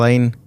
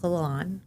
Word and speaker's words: Lalanne: Today's guest is Lane. Are you related to Jack Laane? It's actually pronounced Lolon, my married.